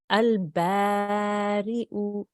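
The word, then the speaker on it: البارئ: The ya is not important. The hamza is important. So we'll pronounce the hamza with the dhamma and we will say u.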